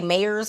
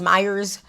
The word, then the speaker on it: Meyers: I don't know how you pronounce. I heard someone say Meyers. I thought it was Myers. I'm gonna say Myers because I feel like that sounds better because I've said it too long as Myers.